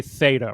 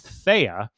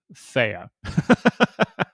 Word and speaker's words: THEA: one here thea i want to say theta really bad but there's no t here so it's it's thea is named after threshold elliptic curve digital signature algorithm so i think we're just going to go with thea all right so